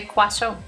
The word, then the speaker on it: croissant: Yeah, the is silent. Croissant. Yeah, it's like actual French. You know, you write it one way, but you pronounce it another way. Croissant. But you do hear the end.